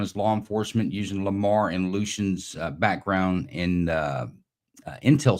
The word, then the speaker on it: Lamar: But I want to welcome Lamar. It's pronounced in English, Lamare, pronounced in French.